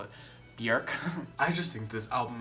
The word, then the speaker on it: Björk: The only reason why I say her name Björk to that bitch over there is because she doesn't understand it when I say Björk. Because her name is actually Björk. She also rolls her tongue when she says her